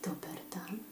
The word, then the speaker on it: dober dan: Then if you want to say dober dan, okay, if you want to say good day, you say dober dan. Dober, so this changes, okay? It's not dobro, but dober.